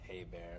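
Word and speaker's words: Hebert: Oh, and by the way, my last name's pronounced Hey Bear, if you care.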